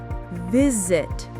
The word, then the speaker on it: visit: Like visit. That's a verb, but the stress is on the first syllable.